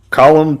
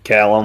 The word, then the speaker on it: Callum: and I'm going to butcher his first name, Colum Turner. Is it Colum Turner? Colum Turner. Colum How do you spell that? Oh, Callum. C A Callum.